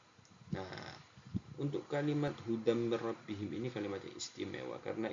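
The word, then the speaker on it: هُدًى مِّن رَّبِّهِمْ: Hudam ini bacaan idgham bi gunnah. Mir rabbihim ini bacaan idgham bila gunnah. Di sini sangat jelas perbedaannya anak-anakku, cara membacanya sama-sama masuknya. Yang satu dengan mendengung, yang satu tanpa mendengung. Pak Bahrul ulangi lagi.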